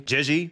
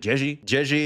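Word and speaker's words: Zhezhi: a filler patch the units are lackluster absolutely jigi you guys said I should pronounce it ji ji is lackluster are we going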